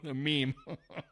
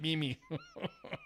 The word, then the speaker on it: meme: Boomers that don't know what a Mimi is meme they pronounce it Mimi waste of time don't